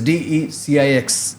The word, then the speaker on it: DE-CIX: I hope I'm getting the pronunciation right. Yes, sir. Very much so. Okay. So it is DE-CIX, DE-CIX India.